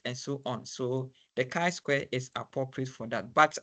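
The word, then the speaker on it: chi-square: what is called the K Square test the K Square test say Square you want to pronounce it so Kai Square test so so the test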